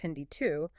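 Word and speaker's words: HindII: The first enzyme Hindi pronounced Hindi 2 was identified in a strain of hemophilus influenza way back in 1970.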